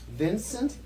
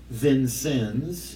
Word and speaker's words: Vincennes: jeez well I was born in Vincennes Indiana Vincent Vincennes Vincennes how do you spell that v-i-n-c-e-n-n-e-s wow okay and it's uh a